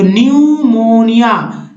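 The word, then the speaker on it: pneumonia: तो दोस्तों यहाँ P नहीं पढ़ना है, PN से, PS से, PS से, तो क्या पढ़ना है, N से पढ़ना है। तो न्यूमोनिया, साम या साइकोलॉजी लिखेंगे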